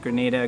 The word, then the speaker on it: Grenada: it has gorgeous beaches Grenada Grenada not Anita Grenada can ha - here